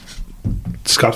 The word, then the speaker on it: Scut: Scott Farkas had braces, and Scut. They spell it S-C-U-t.